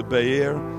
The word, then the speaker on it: Beer: they continued on to Bayer it's spelled beer but we can't say beer in church right so we'll just say Bayer it's funny the name